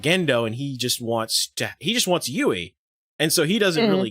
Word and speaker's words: Yui: Is it Yui or is it Wei? Yui. Yui. I just kept hearing them say, probably hear them say Yui. Yui. Right, Probably because it's a little bit with the way they pronounce it. It's the U. You probably can't hear it.